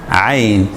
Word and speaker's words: ع: And this one, Ain. Ain. You know, most of you actually say it correctly. Ain.